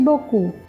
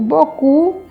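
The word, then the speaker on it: beaucoup: sabe que é Merci boku o bocu Ele termina não é com o p o p essa consoante a gente não pronuncia mas a gente sabe que na grafia existe né Tem justamente bo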